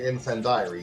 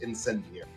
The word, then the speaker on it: incendiary: So yes, but yeah, you you had an interesting way of pronouncing it because So you think infend diary?